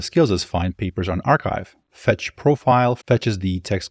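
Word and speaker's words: arXiv: in there to do that archive it's pronounced archive for people that are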